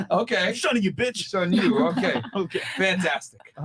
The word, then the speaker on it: 剩女: It's shun you. Like it's like Shun shun you. you. Like it's Shun almost you. like yeah, like okay. I'm shunning you, bitch. Shun you.